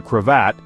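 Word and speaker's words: cravat: This scarf, called a crevat, pronounced similarly to Croat in French, was not just part of their military uniform, but also a symbol of their national identity.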